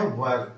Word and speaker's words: were: इनके साथ आपको लगाना है वर्ब। क्या लगाना है, वर्ब। अच्छा, प्रोनाउंसिएशन बहुत जरूरी है, शुद्ध होना। देखिए यहां पे लिखा है WERE, इसको क्या बोलेंगे आप, इसको बोलेंगे वर।